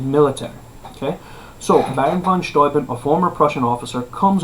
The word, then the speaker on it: Steuben: Okay, it looks like Steuben, but pronounced Steuben, right?